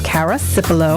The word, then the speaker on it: Cara Cipullo: your host nicole perry and my guest is cara cipolo i love your name i love that you're